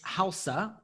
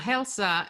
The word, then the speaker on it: Hälsa: So we are back with Helena and Mika from Hälsa. I guess, did I pronounce that correct this time? Yeah, Hälsa. Hälsa. It's Swedish. That's Swedish for health.